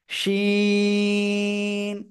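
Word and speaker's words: ش: নুক্তা তাহলে কি হলো শিন এই যে শাসা শব্দ ঠিক আছে শাসা শব্দ হবে কিন্তু একটু না হলে কিন্তু উচ্চারণটা সঠিক হবে না তিন আলিফ টান কয় আলিফ তিন আলিফ টান হবে শিন সবাই আমার দিকে তাকান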